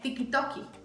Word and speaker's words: TikTok: TikTok es TikToki.